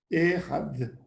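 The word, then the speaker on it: אחד: la fin du mot, c'est comme un TH en anglais. Tu prends la langue et tu la mets, tu la fais toucher, tu la fais taper sur les dents en haut, tu fais d.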